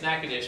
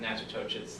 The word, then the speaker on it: Natchitoches: It's Natchitoches, but I always made fun of him, pronounced it Natchitoches, Louisiana.